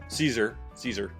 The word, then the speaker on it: Siser: Siser salad. Yes, pronounced Caesar like salad.